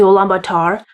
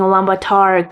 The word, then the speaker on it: Ulaanbaatar: total to Mongolia to Lombatar. And it's so funny that I keep saying Lombatar cuz that's not exactly how I pronounce it, but that's how it's pronounced in English.